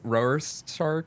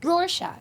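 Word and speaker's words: Rorschach: I have been avoiding saying it cuz I cannot pronounce it right. Roar Shark. Roarshack.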